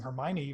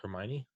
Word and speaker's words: Hermione: Rowling is an incredible writer, but that didn't stop me from mispronouncing Hermione for, I don't know, until I saw the movie. Yeah, wait. Is it Hermione?